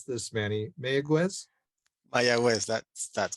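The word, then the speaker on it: Mayagüez: of Puerto Rico uh tell me how I pronounce this Manny mayaguez that's that's correct yeah okay my my quiz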